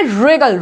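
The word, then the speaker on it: wring: Regal, क्या बोल रहे हैं हम यहाँ पे, रिगल, रिगल, ना कि व्रिगल, ठीक है। इसको व्रिंग बोलेंगे क्या, जी नहीं, व्रिंग नहीं बोलेंगे, इसको क्या बोलेंगे, रिंग, क्या बोलेंगे इसको, रिंग।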